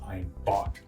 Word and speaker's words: Einbeck: And Einbeck, well, that's how it's spelled, but it's actually pronounced Einbock in German.